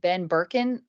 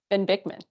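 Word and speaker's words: Ben Bikman: I think that anything with Ben Birkin on it, I think, did I say his name right? Ben Bickman.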